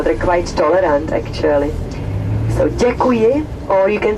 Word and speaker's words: děkuji: Thank you in Czech is děkuji, D-E-K-U-J-I, děkuji.